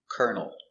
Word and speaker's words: kernel: And this word has the same pronunciation. But this one makes sense. Kernel. A kernel is a countable piece of corn. This is 1 kernel of corn. Same pronunciation for kernel.